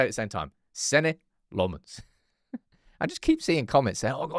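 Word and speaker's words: Senne Lammens: you pronounce his name, but that's how you pronounce his name. Sen Lmens. All right. No lemons. Sen Lmens. All right. One more time. Everyone say it at the same time. Sen Lmens.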